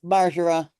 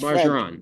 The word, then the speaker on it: Marar: a dumb question is how do you pronounce your last name I'm afraid I've been mispronouncing it it's margara margarin margara it's marar okay okay awesome thank you